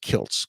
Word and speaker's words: Kiltz: like I like it's it's actually pronounced Kilts k i l TZ so I threw a